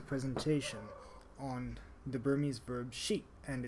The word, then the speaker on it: ရှိ: the future so let's start with the verb sheep it's pronounced she usually in English it's translated to